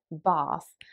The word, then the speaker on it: bath: the south of england they would almost pronounce it as if there was an r after the a so bath whereas an american english